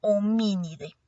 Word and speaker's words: Hominidae: En biología es importante recordar que cuando se encuentra la A y la E juntas, no va a sonar la A, sino que se salta inmediatamente al sonido de la E. Por eso, a pesar de que se escribe hominidae, su pronunciación correcta es homínide.